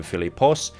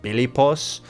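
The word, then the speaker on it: Φίλιππος: For example, Philip would take the Greek name Filipos, but the Macedonians would pronounce it bilipos, not being able to pronounce the P.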